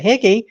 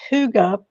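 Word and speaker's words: hygge: is Hy g g which we might think is the term let's get higgy um but no it's pronounced Huga and you did two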